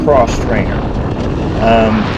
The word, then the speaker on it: X-Trainer: That's spelled X trainer, but it's pronounced cross trainer.